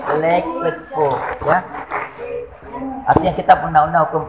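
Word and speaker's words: Burgerlijk Wetboek: Jadi bukan boer, bukan juga bor, tapi bur, ya. Ya. Itu ini LICK, jangan dibaca lik tapi lake. Bukan like, lake with book, ya.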